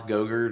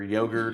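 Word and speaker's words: Goedert: philly is happy with dallas gogurt or yogurt or however you pronounce his name that was gildered well it's godder didn't it something like that but also at the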